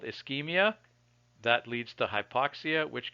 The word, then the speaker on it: ischemia: cut instead of Chuck so this word is pronounced ischemia so the word ischemia means that you've cut